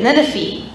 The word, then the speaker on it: Nineveh: Nineveh.